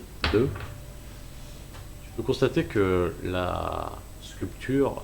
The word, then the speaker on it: sculpture: Tu peux constater que la sculpture, Sculpture. Bien. Le P se prononce pas.